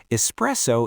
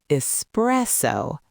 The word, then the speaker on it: espresso: Espresso is the base of most coffee drinks.